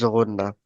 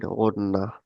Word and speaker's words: Ghunna: Ghunna, we are doing when we pronounce the word Ghunna. So what? Means the answer is in the word of Ghunna. You like close your nose at the end, or like put the voice inside your nose.